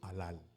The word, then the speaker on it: halal: Le premier mot c'est le mot alal. Alal s'écrit H A L A L. Alal, c'est écrit H A L A L.